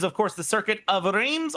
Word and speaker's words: Reims: course the circuit of RS or rans uh we'll go back and forth on the pronunciation a bit and it's a deceptively